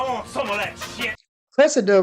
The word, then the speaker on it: Cressida: Cressida rhymes with replica.